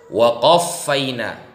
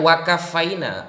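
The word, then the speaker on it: وَقَفَّيْنَا: Waqaffaina, bukan wakafaina. Mbak barusan membaca wakafaina. Beda kafa dengan qaffa, nanti maknanya sangat jauh gitu loh. Waqaffaina ala atharihim bi'Isa bani Maryam musaddiqan lima baina yadayhi minat Taurah.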